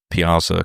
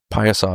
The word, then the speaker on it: Piasa: We also met Piasa Crew, or perhaps, as most MetaZoo people pronounce it, Piazza Crew, though just saying Piasa is actually the correct pronunciation.